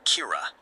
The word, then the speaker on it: Kira: As criminals begin dying of unexplainable heart attacks, the public dubs this mysterious killer Kira, the Japanese pronunciation of killer.